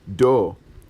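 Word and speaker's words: دو: one is number two which is doe lyke doe a deer a female deer DOE and then as a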